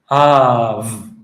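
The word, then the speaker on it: אב: So, let's put it together. av av All right? And that's how to pronounce this word, av.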